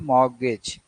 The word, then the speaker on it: mortgage: सो मॉर्गेज, सो इट इज मॉर्गेज। सो students, when we see these types of pronunciation, then we will find that our languages, Indian languages, Hindi, Punjabi, or other language are quite rich.